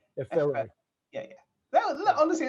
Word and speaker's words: Efere: Air, like the stuff around us. Air. F, like the letter. Yeah. A, like the note. Efere. Efere. Yeah, but without the emphasis on the ray. Efere.